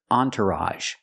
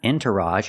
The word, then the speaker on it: entourage: have this word entourage this is a special word because the makes a sound on it's not Entourage it's on Entourage so the first syllable is on the second syllable is tur make the IR sound like burger entour and at the end we have the a sound again with a Entourage entourage is countable what